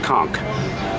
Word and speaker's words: conch: what I'm after right there I want some konk konk that provide pronouncing it correctly Conca salad has showed